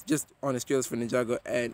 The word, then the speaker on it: Ninjago: is the life ninjago oh i mean ninjaengo and eagle uh it's ninjago it's really not that hard to pronounce fine geez whatever you